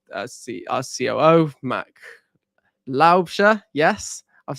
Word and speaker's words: Laubscher: as well with uh see our CEO Mac laobia yes I've said it I I just shot